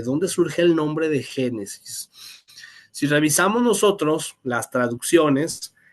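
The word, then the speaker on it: Γένεσις: Curiosamente, en griego, pero con letras griegas, claro está, también se pronuncia Génesis. Igual, Génesis.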